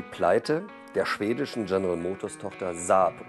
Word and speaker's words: Saab: Mit staatlichen Hilfen und Privatinitiative einer Gruppe von Großindustriellen soll die Pleite der schwedischen General Motors-Tochter Saab, oder wie es richtig ausgesprochen wird, Saab, verhindert werden.